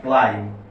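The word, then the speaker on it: climb: এইটা হবে ক্লাইম। এটা কি হবে? ক্লাইম হবে। শব্দটা হবে ক্লাইম। আপনি যদি ব দিতে চান দিতে পারেন। ক্লাইম। যদি সাধারণত এম এর পর যদি বি আসে তার উচ্চারণ হবে না।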